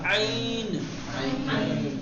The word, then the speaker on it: ع: عین بالکل سمپل ہے. حلق کے بیچ سے درمیان حلق سے نرمی کے ساتھ تلفظ کرنا ہے نا؟ البتہ بہت زیادہ ایک دم عین ایسے بھی نہیں کرنا ہے، عین ہے نا، تھوڑا سا آواز میں کھچاؤ ہوگا، عین، تو ایک